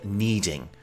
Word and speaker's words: kneading: The process where the dough is folded, stretched, and pulled is called kneading. Note here that the K is silent.